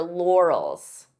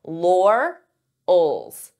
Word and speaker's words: laurels: You can't rest on your laurels. This could be a hard word to pronounce depending on your native language because we have an R and an L. Laurels. Laurels.